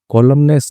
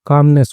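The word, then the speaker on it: calmness: कॉलमनेस नहीं होता, कामनेस होता है, ठीक है, हेल साइलेंट होता है इसके अंदर।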